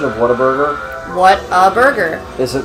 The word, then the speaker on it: Whataburger: the correct pronunciation of Whataburger? What a burger. Is it, because I think it's Whataburger. It's not Waterburger. That's how it doesn't have the word water Doesn't in everybody it.